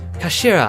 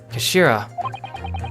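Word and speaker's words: 頭: end of the hilt it's written as head in Japanese but it's pronounced as Kashira I believe Kashira so Mr so's words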